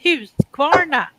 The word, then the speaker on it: Husqvarna: yeah, Husqvarna. If you say it like that, you pronounce it in Swedish the way it's supposed. If you asked for that in Australia, you wouldn't get it.